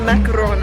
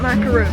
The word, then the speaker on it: macaron: It's a macaron, everybody. Not macaroon, macaroon. They're 2 different cookies.